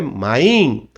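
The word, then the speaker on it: מים: Em vez de se falar mine, dando frisar no A, né? Mine, main. É só para frisar mais o I, tá ok? Então é main.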